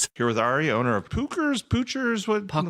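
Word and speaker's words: Puchers: I was just going to say it's Pookers and it's P U C H E R S.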